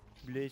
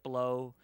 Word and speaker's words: Bleu: Like bleu is French. I can 100% confirm it's pronounced bleu if it's French. Bleu. But if he means it to be anglicized, it could be like blow or blue or, you know, whatever.